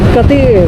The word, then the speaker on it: Cateel: mip Salamat palang hindi pala yung it is pronounced as Welcome to municipality of kati mipo nito wala ng iba malaki rin siya